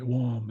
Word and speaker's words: wam: So it's easier, it would have been easier for one of my ancestors, a Haisla person, to say wam instead of warm, or wam instead of warm.